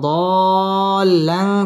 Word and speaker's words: ضالا: উচ্চারণ করতে হবে ওয়াজাদাকা দাল্লান চার আলিফ টান দিয়ে পড়তে হবে লাং ইকফা গুন্নাহ করে